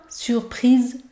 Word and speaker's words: surprise: c'est écrit là surprise ici on ne prononce pas le feu à la fin surprise surprise et vous devez bien prononcé le sont car le s se situe entre deux voyelles la surprise la surprise